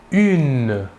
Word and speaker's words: une: Pour l'article indéfini féminin singulier, nous utiliserons l'article une. Une. Il s'écrit UNE. Il faut bien différencier la prononciation entre le masculin et le féminin. Au masculin, un, et au féminin, une.